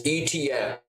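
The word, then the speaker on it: Etienne: It's ETN. Open. We're just pronouncing every syllable. Got it. And then for the next X amount of years, we've been calling him Travis ETN.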